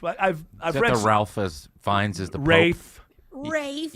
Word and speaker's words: Fiennes: I've read the Ralph as Fiennes is the Pope? Rafe. Rafe. Yeah, whatever. Rafe. Ralph. It's Rafe. Fiennes.